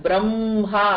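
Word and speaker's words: ब्रह्मा: அது என்ன ரூல்னா, ஹ முதல்ல வந்து அதுக்கப்புறம் ம வந்ததுன்னா we pronounce the ma first. Like for example பிரம்மா அப்படிதான் சொல்லணும். பிரம்மா சொல்லணும் even though இங்க ஹக்கு அப்புறம் தான் ம வருது.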